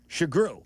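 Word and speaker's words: Sugrue: It's spelled s u g r ue e. Try it again. Shagru.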